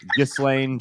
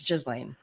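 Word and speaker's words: Ghislaine: what i've that's how i thought it was pronounced i've always called her you slain just lane i've everything but the correct the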